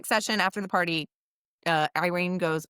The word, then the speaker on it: Yrene: So, next time, next session after the party, uh, Irene goes, I always want to call her Erene. So, I every time I say her name, I'm like, ei.